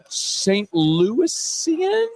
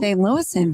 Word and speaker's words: St. Louisan: Because you as a native St. Louisian, St. Louisan, St. Louis St. Louisan, very good. close. I added one extra syllable to St.